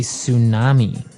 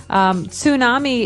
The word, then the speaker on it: tsunami: And because of all this activity, people say that they may have a tsunami. Well, this doesn't sound very English, does it?